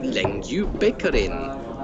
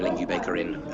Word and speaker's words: Lengjubikarinn: Sorry that you got to put up with this, but hello and welcome to Lengjubikarinn. It's apparently the Icelandic way of pronouncing it.